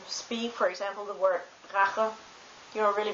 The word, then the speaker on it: Rache: And, but it can also be pronounced as it's kind of like the sound you make when you pull up snot before you spit it out.